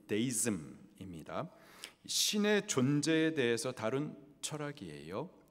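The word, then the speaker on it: deism: 가운데에서 이신론이라는 것이 있어요 이신론 영어 발음으로는 데이즘입니다 신의 존재에 대해서 다른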